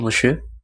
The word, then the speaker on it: monsieur: Bonjour monsieur. Jadi monsieur itu tulisannya MONSIEUR. Itu dibacanya monsieur.